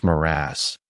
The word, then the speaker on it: mirage: Mirage is pronounced Maraz, said Valancy shortly, picking up her tea and her beans.